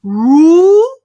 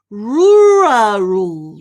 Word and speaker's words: rural: And the pronunciation here is rural. Rural, rural. Can you try that? Rural, rural. Yeah, so it's sort of like there's a little R behind the ru.